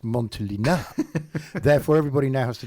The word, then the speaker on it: Montelena: Newman would have gone, sorry, Turnbull, I think you'll find it's pronounced Montelena.